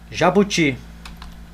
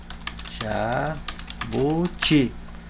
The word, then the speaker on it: jabuti: Jabuti. Jabuti.